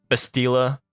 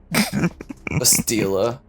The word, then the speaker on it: Bastila: Kashyyyk, Kashyyyk, Taurus, Bastila, Bastila. Oh my god. Bastila. I mean, to be fair, her name is like Bastille, the actual world.